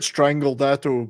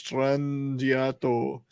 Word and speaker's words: Strangiato: La Villa Strangiato or whatever the hell I used to call it Strangledato, but you know, Strangledato. No, it's Strangiato.